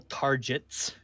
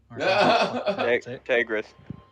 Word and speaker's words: Tagris: Tim Tom will go back up and approach Sal Targets. Tagris. Sal Just Tagris. offended by the mispronunciation of his name.